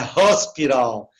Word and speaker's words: hospital: exceções, é claro que H para eles você pronuncia com som de R, né? Então você fala home, house, ok? Então fica com som de R, né? Então aí ele muda, então é hospital. Então a maioria dos Hs